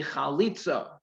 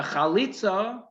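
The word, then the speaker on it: chalitzah: so then there is a performance called a khalitza a khalitza and i'll spell it for you in a second c h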